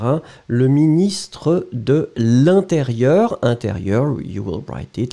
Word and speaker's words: intérieur: Intérieur, you will write it like I-N. Remember, it's a nasal, so everything is going in the nose. You don't pronounce any N.